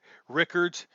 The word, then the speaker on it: Rickards: just because it's unusual it looks like uh richards but it's actually like rickards um first of all